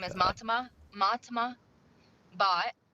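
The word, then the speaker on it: Bhatt: Matima Bot. It's pronounced bot.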